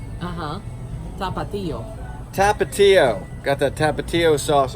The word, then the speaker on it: Tapatio: It's got this, pronounce that sauce there, is it tapio? Uh-huh. Tapatio.